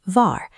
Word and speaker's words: wahr: This tile shows wahr, meaning true, anchored by the 2 + 2 = 4 check mark. Notice the pronunciation. In German, the letter W always produces a V sound. So, you say wahr.